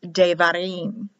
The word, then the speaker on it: Devarim: Without the dot, it's pronounced as a V, written as a B in the word, like Devarim, but it's pronounced Devarim.